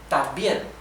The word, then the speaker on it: también: This in syllables will be tam, bien. También. So these form the same syllable, right?